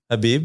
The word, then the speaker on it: Khabib: Habib. Yeah, K is silence.